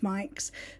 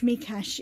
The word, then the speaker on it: Mikes: authors was george mike if you don't know you probably think george mike's but george mikash is the hungarian pronunciation and george was on